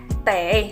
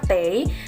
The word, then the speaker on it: 得: Wo saya tei harus, ini juga bisa dibaca te, tapi di sini kita pakai yang bacanya tei.